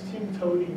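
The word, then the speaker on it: TMTOWTDI: Perl programmers like this expression that we pronounce "timtoting," which means there's more than one way to do it.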